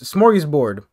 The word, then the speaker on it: smorgasbord: smart google mr dictionary man how do you pronounce this it's it's smorgasbord smorgasbord yes smart is bored smorgasburg which means